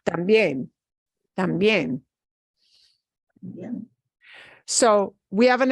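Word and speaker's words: también: pronounce that word tambien we specifically take that e vowel and that gets more punch tambien so we have an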